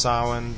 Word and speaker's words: Samhain: Samhain, or traditionally Halloween, is pronounced Samhain, but it's spelled Samhain if you've seen this word printed before.